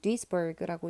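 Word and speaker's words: Duisburg: 그리고 독일식 발음은 디스부르크인지 모르겠는데 영어로는 디스버그라고 읽으면 되고요.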